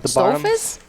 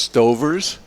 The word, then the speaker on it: Stauffer's: Stauffer's? Yeah, and Really? I'm surprised. I think it's pronounced Stover's.